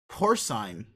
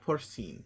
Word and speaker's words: porcine: not Nana's more good pronunciation check let's go porcine the day we learned not porcine or sign soul and porcine physicality